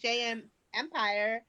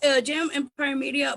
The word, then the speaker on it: Jam Empire Media: Say it correctly. Yeah, it's Jam Empire Media, but it's fine, guys.